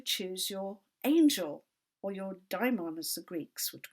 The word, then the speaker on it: daimon: And lachesis helps you choose your angel, or your daimon, as the Greeks would call it, sometimes pronounced daemon, not to be confused with the Christian word demon, although there's probably a